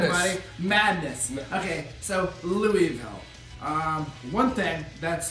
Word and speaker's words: Louisville: Okay, so Louisville. One thing that's spelled wrong. The It's S is silent.